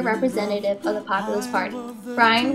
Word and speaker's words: Bryan: Bryan, which rhymes with lion, failed to gain support